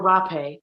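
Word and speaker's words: rapé: You can say it hape, some say it rape, but when you spell it and read it in English, it doesn't look good, that word. So we use hape with an H instead of an R.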